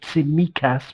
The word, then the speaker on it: Tsimikas: Can I just get, we've done the pronunciation of Tsimikas with the stress on the me.